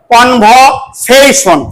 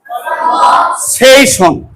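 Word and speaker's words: conversation: কনভ session বলো কনভ কনভ সেইসন সেইশন এই সে যার টান হবে এখানে স্ট্রেস হবে বুঝছো এটা ব্রিটিশ ইংলিশ প্রোনাউনসিয়েশনে এই সেইশনে যার টান হবে we have to give the stress or emphasise it অর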